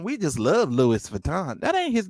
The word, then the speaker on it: Louis Vuitton: like and and then and the word is louis vuitton not louis vuitton uh you know she just